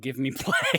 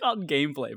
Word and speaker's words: GVME Play: They have a sister channel called Give Me Play. Oh, I don't know why I find that so funny. It's called Gameplay, but it's spelled GVME Play.